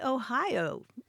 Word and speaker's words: Ai: But, Grant, there's one place that beats all of them, and it's called Ohio, and that's spelled A-I. It has about 600 people there, and it's Ohio.